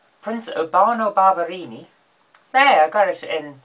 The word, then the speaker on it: Barberini: But there's an Italian prince whose name I cannot pronounce. It's like, I want to say Berlusconi, but I know it's not, so I'm going to look it up. Hang on. It's Prince Urbano Barberini.